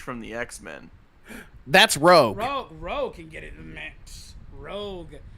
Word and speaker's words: Rogue: collective minds well this dude was talking about rouge from the x-men that's rogue roe can get it rogue from the 90s